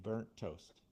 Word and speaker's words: burnt toast: We only pronounce the one T, burnt toast, burnt toast.